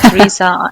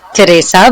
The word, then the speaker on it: Teresa: And by the way, you can pronounce my name. Theresa. I I really don't mind, but my name is Teresa because I'm Italian originally from the south of Italy.